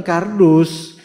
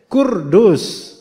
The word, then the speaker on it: Kurdus: tulisannya bener kafrodal wausin Tapi bacanya bukan kardus kurdus lah ini orang yang